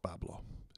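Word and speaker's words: Bois Blanc: They call it Babau, but it's spelled Bon in French. But the locals call it Pablo.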